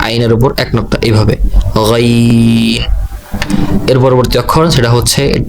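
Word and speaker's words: غين: আমি আবার উচ্চারণ করছি আইন। এর পরবর্তী অক্ষর যেটা, সেটা হচ্ছে গাইন।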